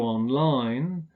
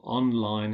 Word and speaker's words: online: the final syllable, go online. If we use them as adjectives, we stress the first syllable, online help.